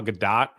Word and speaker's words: Gadot: Hey, Ryan and Jay, the correct way to pronounce Gal Gadot's name is exactly the way it's written. Gal Gadot?